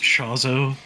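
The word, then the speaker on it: Chozo: ] happens oh my it's pronounced chazo oh I see that's what I'm doing wrong there we go all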